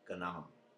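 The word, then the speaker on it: gan ainm: I don't know in Ireland, in Irish means, how you say it. Gananam. Gananam means anonymous.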